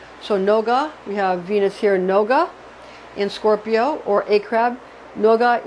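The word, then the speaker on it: נוגה: Then we have Venus, which is pronounced for the Hebrew name of the planet Venus is Noga. So Noga, we have Venus here, Noga in Scorpio or a crab, Noga in a crab.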